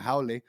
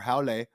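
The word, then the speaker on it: haole: are what he's calling a Hoy or howy however you want to pronounce it which is what they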